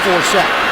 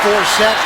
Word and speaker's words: Forsett: Flacco deep drop, floats it to Forsett. Justin Forsett weaving. I have to tell people when they try to pronounce his name, it's like Dorsett.